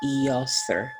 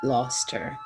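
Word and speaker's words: Eostre: And it's actually, her name is actually pronounced Eoster. I think I said Loster. It's Eoster.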